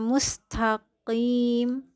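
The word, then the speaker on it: مستقيم: Qaf itu harus diucapkan juga dengan rahang terangkat karena dia adalah huruf isti'la. Karena nanti dia bisa jadi seperti kaf ya, mustaqim itu jatuhnya menjadi kaf. Harusnya dia qaf yang harus dibaca dengan tebal.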